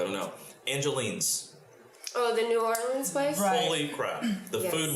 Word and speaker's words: New Orleans: so and and i'm teaching zachary how to say it correctly i mean it's new orleans yeah it's new orleans